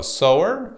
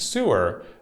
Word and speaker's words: sewer: So sewer and sewer, these are spelled exactly the same. The pronunciation is a little bit different. A sewer is someone who sews clothes, someone who makes clothes. Whereas a sewer is a place where waste and garbage goes.